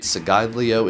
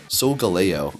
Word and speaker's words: Solgaleo: Segaglio is going to be taking a lot of damage. Am I saying it wrong again? Solgaleo.